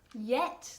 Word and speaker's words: yet: Don't do it now or yet. Yet, todavía, yet. Okay, and be careful with the pronunciation. Yet. It's as if it were pronounced with I-E-T.